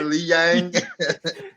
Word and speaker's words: Li Jianliang: I got it written out phonetically next to me. Yeah, I do. Right, you got a Y in there, like a Li Yang.